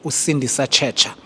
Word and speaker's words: Sindisa Tshetsha: Our guest today all the way from a side uh a gentleman by the name of Usindi Sacha.